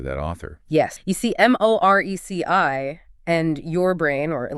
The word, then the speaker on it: Moreci: The C in Moreci sounds like an S. So it is Moreci, Jenna Moreci.